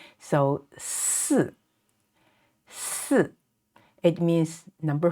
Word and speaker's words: 四: 三三 and this one 四 and yi, the fourth tone falling down. So 四四 it means number 4.